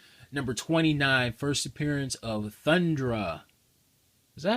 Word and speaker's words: Thundra: Fantastic Four, number 29, first appearance of Thundra. Is that how you pronounce it? Thundra.